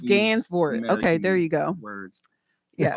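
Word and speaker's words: Gansevoort: I butchered that street now I got my either gain board or Gans boort you know these these uh yeah it's it's Gans boort okay there you go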